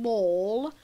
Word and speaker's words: Mall: call it a shopping mall but it's definitely pronounced Mal because in Monopoly it's palamal not Paul mall so up here we